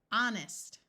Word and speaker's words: honest: of a word usually sounds more like R honest we can add prefixes and the H Still